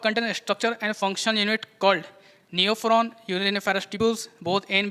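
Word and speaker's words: Neophron: आएगा इसमें ये देखो ये न्यू फ्रॉन है नेफ्रॉन नहीं है न्यू फ्रॉन तो वल्चर होता है ना मैंने स्पेलिंग देख लो क्या है एन ई ओ पी एच आर ओ एन और वो नेफ्रॉन क्या होता है एन ई पी एच आर ओ ए नेफ्रॉन एंड नेफ्रॉन new frown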